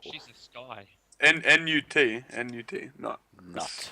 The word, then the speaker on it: Nut: Pretty sure Nut's coming, or Nut is coming soon as well. Who? Nut, Geb's wife. Ooh. Gibbs' wife. Google. She's a sky. N-U-T, Nut. Nut. Pronounced Nut, apparently.